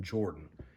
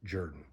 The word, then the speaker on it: Jordan: Jordan two Sundays ago it looks like Hamilton Jordan but he pronounced it Jordan if some of you